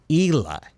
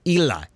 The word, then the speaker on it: Hila: Hila Klein, which by the way, did you guys know that Hila's name is pronounced Ela. The H is in fact silent. It's supposed to be Ela.